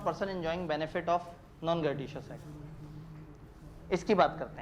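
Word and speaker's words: gratuitous: अजीब सा लफ्ज़ है, इसकी अमेरिकन और ब्रिटिश दोनों प्रोनाउंसमेंट्स अलग हैं, और हमें से क्या लेना देना, हमने कौन सा किसी को पढ़ के सुनाना है, हम जो मर्जी से कहते हैं, हम ग्रेटिशियस कह देते हैं। ग्रेटूशियस अमेरिकन वो है, ग्रेटिशियस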